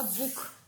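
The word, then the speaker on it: Buch: ख की यानी कि बी यू सी एच है ये होगा बुक dear बुक एन ओ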